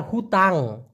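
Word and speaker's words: hutang: করার ক্ষেত্রে যেমন বায়ার হুতাং আমি কিন্তু হুতাং বলেছি এইচ ইউ টি এ এন জি উচ্চারণটা হলো হু তাং হুতাং মানে হলো ঋণ বাদ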